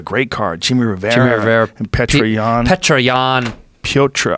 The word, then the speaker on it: Petr: Jimmy Rivera and Petroyan. Petroyan. Piotr. I think you're supposed to say Piotr.